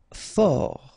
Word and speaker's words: fort: Fort, final T not pronounced.